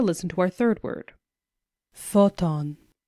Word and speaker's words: photon: to our third word photon Photon follows the same pattern two syllables with the stress on the first syllable Photon and finally our